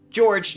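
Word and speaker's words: Jorge: with a suspended license George now by the way his name is spelled the Spanish way but it's pronounced the English way suit do not give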